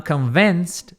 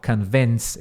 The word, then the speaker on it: convinced: I'm convinced that. Eu estou convencido de que. Convinced. Aqui tem som de T também no final. Convinced. É um som de S e um T.